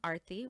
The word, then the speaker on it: Aarti: and LinkedIn and Facebook under my first name Arthy which is spelled A A R T I middle name.